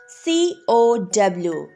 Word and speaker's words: cow: cell next word is c o w how do we read this cow here c is before o so it says the sound of k cow hard c so right here c